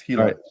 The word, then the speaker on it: Gila: So, it is pronounced that way. Like I was just I've always been saying it wrong. Yeah, it's Hila.